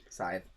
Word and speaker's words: Scythe: It's pronounced Scythe, for sure. Scythe.